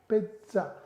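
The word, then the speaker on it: pizza: पिज्जा। आधा दा और जा फिर आखिरी मात्रा तो बोलेंगे पिज्जा।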